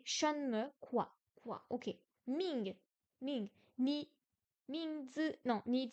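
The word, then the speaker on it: 名: Ming, deuxième ton, prénom.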